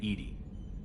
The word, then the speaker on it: EDI: airlock is a jar why are you named Edy Ed is the phonetic pronunciation of e that is an acronym for